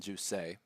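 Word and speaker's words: Jousset: and his opponent uh as the French would pronounce it Jake it is Kevin Jay so Kevin J air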